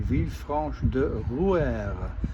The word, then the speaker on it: Villefranche-de-Rouergue: Well, I'm at Villefranche-de-Rouergue. Apparently I got the pronunciation wrong before. My cousin Philippe called and I told him, and he corrected me, Villefranche-de-Rouergue, despite the G-U-E at the end.